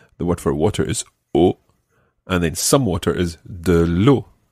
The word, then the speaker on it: eau: The word for water in French is eau. Eau. It's spelled E-A-U, eau.